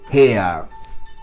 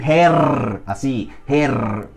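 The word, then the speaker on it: Herr: termina en er Sí en alemán estándar eso uno lo diría Gea como como una a si uno no pronuncia la r uno dice Gea her Jones el señor Jones her Jones los suizos sí que pronuncian eso Ellos dicen her así her her Jones eso sería un suizo hablando her no dirían he es alemán estándar suizo Así es cla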